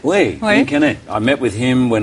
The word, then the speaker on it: Guillaume Canet: I keep getting his name wrong. Guillaume Canet? Oui, Guillaume Canet.